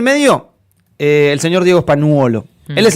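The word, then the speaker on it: Spagnuolo: eh, el señor Diego Espanuolo, él es el señor españolo, para pronunciarlo bien, él es el señor de los audiofiltrados.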